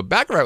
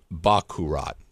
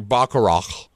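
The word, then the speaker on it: baccarat: take backarat out wh Bak kurat okay I think I'm saying it wrong bakat um being corrected in the live chat that's they love me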